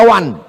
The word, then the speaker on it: one: One dibaca wan.